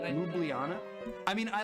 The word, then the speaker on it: Ljubljana: I pronounce it Ljubljana, but I Ljubljana.